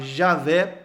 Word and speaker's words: Javé: Mas hoje o que nós entendemos mais corretamente, que a pronúncia mais correta seja Yahvé, no português, Javé. Então é mais correto falar Javé ou Yahvé do que Jeová.